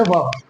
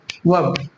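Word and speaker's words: verb: आ, है ना, वर्ब, वर्ब जो है वीर्ब या वेर्ब नहीं बल्कि वर्ब बोलेंगे।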